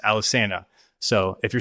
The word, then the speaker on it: Alesana: tell them that they're wrong and no it's Alisana and they're like well uh pretty sure we named the band and it's pronounced Alisanna. So, if you're saying Alisana, stop it because you are wrong.